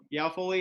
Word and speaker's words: Yao Foli: Yao Foli is the director, as I mentioned, of this really neat organization over in Ghana called Indoor Eco Village.